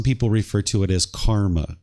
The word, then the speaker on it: karma: Some people refer to it as karma. Karma is the Sanskrit version of this word, where the Pali version is pronounced karma.